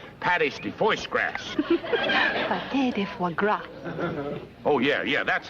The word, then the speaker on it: pâté de foie gras: Pâté de foie gras. Oh, yeah, that's how they pronounce that.